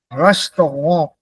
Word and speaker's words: Restaurant: The word that is given here is pronounced the French way still. Restaurant, not restaurant. Restaurant.